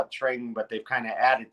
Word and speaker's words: Tring: It was called Tring, correct? Am I pronouncing that right? In Tring.